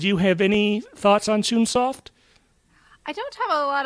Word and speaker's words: Chunsoft: I think some people might pronounce it Chunsoft. It looks like the official pronunciation is Chunsoft.